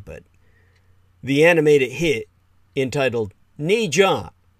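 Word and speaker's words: Ne Zha: Now, that's not fair to say, but the animated hit entitled Ni Jia, spelled N-E space G-H-A in the romanization from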